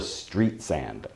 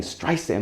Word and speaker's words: Streisand: around he he kept ed sullivan kept calling her barbara street sand and it drove her crazy when people couldn't say her name it really it was like fingernails on a blackboard for her she said i would say my name correct and she stood behind the curtain saying streisand streisand and you can see